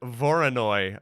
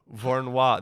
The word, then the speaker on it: Voronoi: say that word yeah oh no i've been saying voronoi oh my goodness thank you for vornois that makes complete sense but for a second